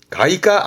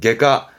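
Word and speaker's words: 外科: 나이가 나이가 그럼 질문 외과는 가이가 아닙니다 그래서 외과가 시험 때 보이는데요 그때 발음은 개로 갑니다 게가 게가 해서 병원 과목 중에서 시험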